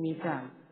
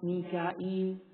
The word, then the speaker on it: Mikal: The Arabs used to say Jibreel, Jibra'il, Mikal, Mika'il, and so on.